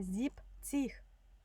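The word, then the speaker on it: siebzig: ахт і додаємо ціх зібціх це буде виняток тут забираємо зібен забираємо але буде лише зіпціх так нойнціх цеж читається таке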